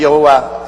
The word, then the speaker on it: 야훼: 왜냐하면 원래 일을 행하시는 여호와 그 일을 지어 성취하는 야훼 하나님이신데, 야훼라 해도 좋고 여호와라 해도 좋습니다. 그러나 야훼란 말이 더 정확한 발음입니다.